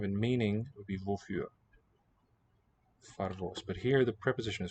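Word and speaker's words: פֿאַרוואָס: Oh, far. I was hearing a P. Favos nicht. Parvos. Far. Right? A in the first syllable. Vos. O in the second.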